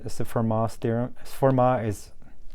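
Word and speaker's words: Fermat: mathematician is pretty famous pronouns for ma you don't pronounce t because it's a french you can just say format it's fine uh f x is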